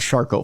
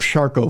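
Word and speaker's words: Charcot: that that i have charcoal foot which if you ever want nightmare fuel for yourself one night look up charcoal foot it's spelled c-h-a-r-c-o-t it's very french and very very gruesome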